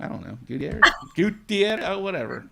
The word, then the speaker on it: Gutierrez: Gutierrez. Oh, whatever. Gutierrez. I can put some flair on it. My goodness. Oh, yeah. You need to roll those R's.